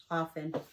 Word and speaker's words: often: family right now pretty pretty often the T is silent often house house you might